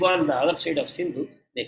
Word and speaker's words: Sindhu: they came across the Sindhu River the river Sindhu they pronounced as Hindu so they saw a